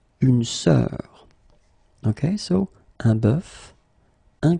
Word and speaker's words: bœuf: first one is un bœuf, un cœur. It's actually quite interesting, because even if you write them differently, you pronounce them the same way. Un œil, un œuf, une sœur. Okay, so un bœuf, un cœur, un œil, un œuf, une sœur.